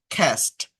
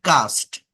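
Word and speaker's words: cast: খ্যাস্ট, নট কাস্ট, নট এ, খ্যাস্ট, খ্যাস্ট, খ্যাস্ট, নিক্ষেপ করা। খ্যাস্ট, খ্যা, sound হবে, খ্যাস্ট, নিক্ষেপ করা।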